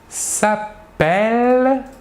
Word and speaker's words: s'appelle: En effet, le E suivi de double L se prononce est, alors que le E suivi d'un seul L se prononce E.